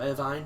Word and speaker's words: Irvine: But whenever Irvin is concerned, or Irvine, depending on how you pronounce his name, it's generally something less important.